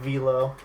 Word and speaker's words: Velo: Because firstly, I'm ahead of Velo. Like, screw you, Enox. His name is Velo, not Velo.